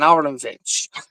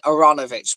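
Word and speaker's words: Aaronovitch: cell and written by Ben aronovich um no sorry Ben aranovich my apologies because I've just recently remembered out to pronounce him so over on a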